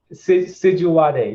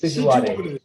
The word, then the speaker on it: Sijuwade: Sijuwade. You pronounced it, you were almost right, but it's Sijuwade. Sijuwade.